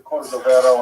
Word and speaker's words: Cordovero: Matseva, his grave note, it's Cordoero. It's a Portuguese spelling, but it's kind of a strange thing to pronounce in Hebrew, so it's sort of mangled into Cordovero, and that has become the standard, even though it's probably not correct.